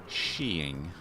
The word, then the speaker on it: Skiing: A Goofy cartoon called The Art of skiing pronounced sheing which I always thought